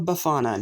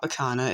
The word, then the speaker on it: Befana: anywho welcome to my review of bafana no not bakana ignore this stupid idiot at the end of the last review that actually mispronounced it anywho so this episode